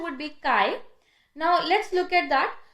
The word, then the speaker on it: chi: mine corrected me, because I used to initially assume the pronunciation as chai, but she actually corrected me and called it kai. So I'll follow that. So the actual pronunciation would be kai.